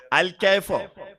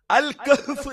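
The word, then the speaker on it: الكهف: പറയുകയാണ് അല്ലെങ്കിൽ ആ മുജാഹിദുകാരൻ എന്നോട് പറയുകയാണ് അൽകൈഫോ അപ്പൊ ഞാൻ ചോദിച്ചു എന്താ ഈ അൽകൈഫ് എന്താ സാധനം അൽ കഹ്ഫ് എന്ന് പറയൂ സഹോദരാ അപ്പൊ എന്താണ് ഖുർആൻ ഖുർആനിലുള്ള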